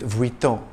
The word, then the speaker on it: Vuitton: If you tend to mix up your V's and W's, you're going to have trouble with Vuitton. It's Vuitton.